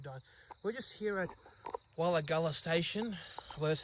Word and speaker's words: Wirragulla: We're just here at Wirragulla station, well, that's how you pronounce it, located on the Dungog branch of the Hunter line.